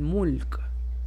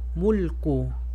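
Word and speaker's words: مُلْك: Cuando termino una palabra, no voy a pronunciar el harakat. Mulk. O si quiero pronunciarla, va a ser Q. Mulku.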